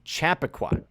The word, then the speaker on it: Chappaqua: arrests know somebody said Juliet it's called it's pronounced Chappaqua actually actually thank you though thank you I